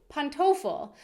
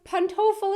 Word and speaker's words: Pantoffel: should start calling them Pantoffel as well. Pantoffel or Hausschuhe. Hausschuhe is just so great because it's literally house shoes, Hausschuhe. I mean, what is Pantoffel? Rhymes with Kartoffel, kind of. Not really.